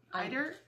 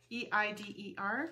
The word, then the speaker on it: Eider: Eider. Eider. E-I-D-E-R.